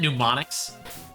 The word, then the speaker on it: mnemonics: like pH right no it's a silent M okay well I oh